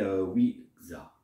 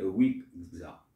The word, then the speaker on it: Ouija: Le Ouija, prononcé Ouija en français. En anglais, on le dit Ouija.